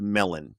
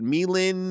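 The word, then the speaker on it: Melyn: M-E-L-Y-N, but it's pronounced Melon. Of course, I tried to pronounce it weirdly the first time. I thought it said Melin, and then they said, like it's Melon.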